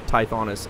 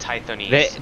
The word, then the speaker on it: Tithonis: I've actually never had anyone pronounce Tithonis anything different than Tithonis. Really? No one's ever said Tithonese.